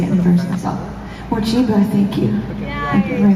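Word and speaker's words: Morcheeba: Mochiba, thank you.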